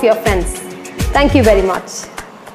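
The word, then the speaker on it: Miu Miu: And it's quite easy for you people to pronounce. It's just MU, MU.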